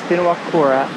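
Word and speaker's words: Whenuakura: donut island also called binawakura island it actually starts with the wh we learned that w h the way it's pronounced is the f sound so it's spinawakura island also known as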